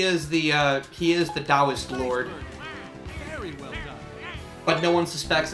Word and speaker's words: Taoist: lord of the dial not to be confused with the Dow Jones index but you know the one that spelled with the T for some godforsaken reason